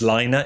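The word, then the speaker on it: Laine: Well, surprised that uh I always call them Lane magazine, but I think the posh way of saying it is Lina. Is that right? I think Lina is how they pronounce it cuz it's Finnish, but I think like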